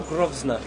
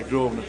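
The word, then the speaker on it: Grosvenor: on how the groer is it groer or grovner no yeah groer Gro silent s gr venor GR venor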